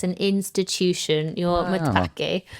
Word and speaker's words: matpakke: called the Mørtpakke. Mørtpakke? Mørtpakke. Oh. It's spelled Matpakke.